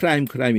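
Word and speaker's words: climb: B가 묵음이 돼가지고 그냥 크라임 이러는데 그 B 탈락시켜 놓고 AX를 붙이면은 올라가게 하는 도구가 돼요.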